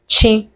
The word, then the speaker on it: chi: So it's just chi the ch and is pronounced chi.